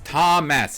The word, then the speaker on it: Tomas: if you've never heard it's tom mess is how you pronounce it i know it's uh